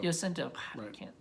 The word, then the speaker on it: Jacinto: his name jacinto jacinto jacinto sorry I'm not I'm not Spanish I don't pronounce these names pretty well pronounce your J's with as if they were wise yeah yes uh and